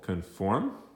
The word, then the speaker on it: conform: the word is conform conform is a verb and accent on the second syllable conform and it means to